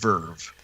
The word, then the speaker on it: VRV: one final thing though it's vrv dot-com it's just pronounced Verve okay and don't quote